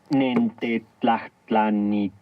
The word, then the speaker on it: Nentlanwe: Recuerda que en el nawat las palabras se acentúan en la penúltima sílaba. Nentlanwe.